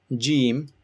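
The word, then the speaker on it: ج: Next you have Jim. Imagine this is your tongue and the middle of your tongue touches the upper part of your mouth.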